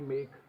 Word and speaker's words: make: अच्छा, ई का एक और एग्जाम्पल है कि ई कभी कभी क्या है, साइलेंट भी हो जाती है। तो जैसे MAKE मेक, है ना, यहाँ क बोल रहा है, ई का कोई साउंड नहीं आ रहा है।